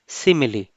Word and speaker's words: simile: सिमिली सिमिली सिमिली silly.